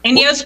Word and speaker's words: INEOS: it all right so did I pronounce it right inos yes inos Grenadier is the name